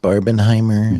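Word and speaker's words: Barbenheimer: think that the is believe it's pronounced barbin Heimer barbin Heimer yeah there you go Barbie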